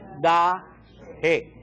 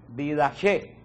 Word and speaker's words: Didache: El primer libro que se escribió es la Didache, que se pronuncia también Didache. Se puede pronunciar de las dos formas.